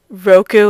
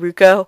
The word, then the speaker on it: Ruko: I used to pronounce Fujikoto Kato, like, and I used to say Roku instead of Ruko. Even though it's Ruko.